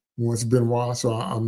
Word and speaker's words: Benoist: Remember on the TV show with Melissa Benoist, because I refuse to say Benoist. That's a French name, and I heard her say it properly once, Benoist, so I'm not going to say Benoist.